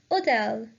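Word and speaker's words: hôtel: one hotel means hotel the H is a legend so it will be pronounced as hotel the third one is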